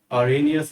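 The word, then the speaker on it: Arrhenius: आरनियस ने। आरेनियस आरनियस जो बोलना हो बोल सकता है आप इसको। मैं तो आरिनियस ही बोलता हूं क्योंकि स्पेलिंग ही ऐसी है।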